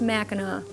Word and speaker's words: Mackinac: which is the French version but they're all pronounced Mackinac and that's your spelling lesson for today no